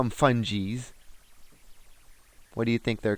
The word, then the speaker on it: fungi: Some people call them fungies. What do you think they're called? Fungi? They're actually pronounced either way. Yeah. But I pronounce it as fungi. Whether you're a fun guy or a fungi.